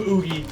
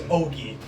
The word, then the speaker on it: Ogie: Yes, we've been calling him Oogie, but the way it's meant to be pronounced is Ogie.